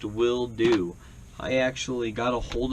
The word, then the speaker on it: Wildo: willo Campa box now it is pronounced will do I actually got a hold of this company and asked them because um I was calling it wo and wild o and all this different